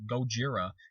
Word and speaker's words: Gojira: not even like called Godzilla it's called like Gojira and like some reporter just actually mispronounces his name on TV and says Godzilla's